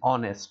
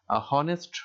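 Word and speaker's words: honest: কিন্তু এন অনেস্ট ম্যান, এখানে হনেস্ট হবে না, এই শব্দটার উচ্চারণ হবে অনেস্ট, অর্থাৎ এইচ আছে কিন্তু এইচ এর কোনো উচ্চারণ নাই, সেজন্য এখানে এন ব্যবহার করা হয়েছে।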